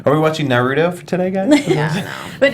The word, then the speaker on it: Naruto: you know Naruto like I say Naruto because that's the way it is but I get that people say Nudo you know like that I now that's ridiculous.